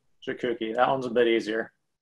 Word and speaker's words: Jakucki: And his last name is Jakucki. Jakucki, that one's a bit easier.